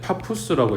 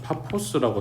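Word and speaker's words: Pappus: 밑에 내려가면 이게 옛날 책에서는이 사람 이름인데 파푸스라고 읽었거든. 근데 요즘 책에서는 파포스라고 나오더라고.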